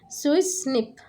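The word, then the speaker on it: SWI/SNF: Two best family remodeling complex SWI by SNF pronounced as Swiss SNP in mutants that were mating type switching defective SWI2 and sucrose non-fermenters that is SNF2.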